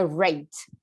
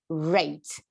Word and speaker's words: rate: Já anota no seu caderno que as palavras em inglês, quando elas começam com R, você tem que dar aquela enrolada na língua, tá? Então é rate, rate.